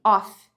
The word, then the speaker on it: of: Off, né? Não vai ser off, vai ser of.